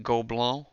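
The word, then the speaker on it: Gobelins: short with, I think, Gobelin is how you pronounce it.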